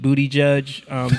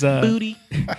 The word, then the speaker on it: Buttigieg: when you see Pete Buttigieg do his booty. When you see him do his what? That's not how you say his name. I mean, I guess Buttigieg. Buttigieg. It's kind of funny.